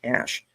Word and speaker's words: CSH: Alpha Company was the medical portion of the CSH pronounced like cash.